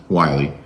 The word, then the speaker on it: Wiley: It's spelled Anne Marie, but as she pointed out to us and everyone else on the cast, it's Anna Marie pronounced Wiley. We had a really fun,